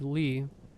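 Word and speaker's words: Leigh: It was spelled L E. Mine is spelled L E I G H.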